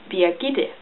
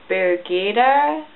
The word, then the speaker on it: Birgitte: This is pronounced Birgitte. And most Americans cannot pronunciate this. They often end up saying Birgitte, Birgitte, and just the closest English name would be Bridget.